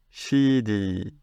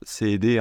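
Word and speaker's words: シーディー: à la sauce japonaise, mais du coup, c'est pas CD, c'est bien shidi. Vous voyez, comme en anglais où ça serait shidi, et voilà, là, ça devient shidi.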